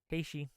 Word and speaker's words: Haiti: say hes LS uh yeah I mispronounced Haiti I'm sorry haii yeah my bad I